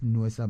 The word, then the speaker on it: Nuesa: So the Bulisa people, yes, in their Buli language, yes, pronounce or they call shoes Nuesa. So Nuesa.